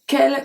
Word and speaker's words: quelle: So quelle can have four different spelling. We have quelle, Q-U-E-L, quelle, Q-U-E-L-L-E, quelle, Q-U-E-L-S, and then quelle again, Q-U-E-L-L-E-S. They are all pronounced exactly the same.